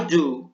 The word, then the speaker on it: do: Entonces tenemos I do my homework. Esto se pronuncia do con U, do.